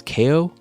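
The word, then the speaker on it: Kao: was cow the kangaroo now it's not Cal the kangaroo I this up last time it was I think it's KO I think that's the way they're pronouncing game but I didn't I don't wasn't listening and they didn't say it when I was playing it I I believe it's KO the kangaroo either way it's not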